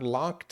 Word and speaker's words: locked: Or if I got locked away. If I got locked away. So if you notice, that's that T sound, right? Because you have a K at the end, like walked or worked.